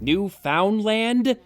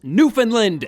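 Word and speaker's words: Newfoundland: locations Venezuela New Foundland New Foundland did she seriously just pronounce it New Foundland it's pronounced Newland you botched boobjob bimbo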